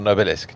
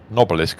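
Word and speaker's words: Nobelisk: Uh, or noilisk, depending on who you are and how you're pronouncing things. Uh, noilisk sounds a bit posh. Noelisk sounds right.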